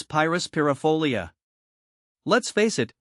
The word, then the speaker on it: Pyrus pyrifolia: Let's face it, Pyrus Pyrifolia can be a mouthful. Here's a breakdown to help you master the pronunciation. Pyrus, the emphasis is on the first syllable, with a long I sound.